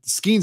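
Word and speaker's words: Skenes: Skeens is how it's pronounced, right?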